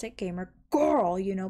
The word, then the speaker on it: GamerGORL: used to pronounce it gamer girl you know put emphasis on the girl and i wasn't really